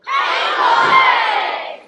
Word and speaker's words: Cango: band definitely knows what it's supposed to be pronounced. Friends, what are these caves called? Cango!